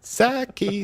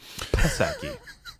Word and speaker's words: Psaki: Saki, the bitchy ghost. Psaki. Psaki. It's there, I'm pronouncing it.